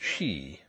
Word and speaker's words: ski: Even Nelly insisted on hiring a pair, and the pronunciation of the word "ski" aroused long discussions, and was never settled by anybody. The Captain said "ski," but he did not object to "she," which was said to be the more strictly correct